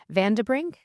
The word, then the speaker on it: van den Brink: It's Martin Vanderbring.